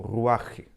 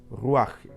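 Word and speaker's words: רוח: la palabra espíritu aquí en hebreo se traduce Como ruaje así es como se traduce r u aj Así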